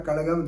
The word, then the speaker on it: Kazhagam: Actually, during the assembly elections in 2006, the DMK party, Dravida Munnetra Kazhagam or Kalagam, they pronounce it.